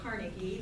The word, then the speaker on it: Carnegie: Most Americans say Carnegie. The Scottish pronunciation was probably Carnegie, with the emphasis on the second syllable.